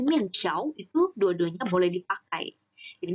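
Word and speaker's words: 面条: Dan 面条 ini ada beberapa cara baca. Mungkin teman-teman ada yang pernah ketemu orang bacanya dalam 面条. 面条. Jadi, jika ada R, ada di belakangnya, itu juga boleh. Nah, 我要吃面条.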